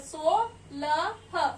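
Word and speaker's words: सोलह: And we call this number in Hindi as sa ko o ki matra so la ha, solah, SAULAH, solah.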